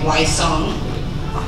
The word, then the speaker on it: Wysong: My last name is White Song. You take the W off, you get the Y, you use the song, and the White Song, you say it like that.